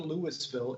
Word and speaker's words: Louisville: And I've been corrected several times by people telling me it's not Louisville, it's Louisville, Kentucky. That's how you pronounce it. So for everybody, you can say Louisville, or the people that live there say Louisville.